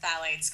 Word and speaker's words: phthalates: That's spelled PHTHALATES. It sounds like phthalates. It's like a really weird spelling.